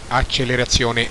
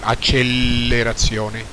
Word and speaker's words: accelerazione: Ricordiamo che accelerazione si pronuncia con una L sola, accelerazione e non accelerazione.